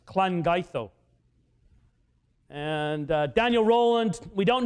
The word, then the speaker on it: Llangeitho: The double L in Welsh is a cl sound. It's Llangeitho.